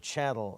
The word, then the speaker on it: chattel: called chattel real right in the word chattel real rhymes with cattle leasehold estates are called